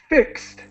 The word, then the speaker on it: fixed: And the pronunciation is fixed. The ED is pronounced as a T.